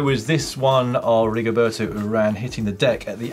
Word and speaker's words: Urán: It's pronounced Urán, as in you ran me over.